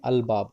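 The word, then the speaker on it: الباب: बा, अगर बा जो लफ्ज़ है उससे पहले उससे पहले अगर अलिफ लाम लगे तो हम अलिफ लाम में लाम को प्रोनाउंस करेंगे अल बाब।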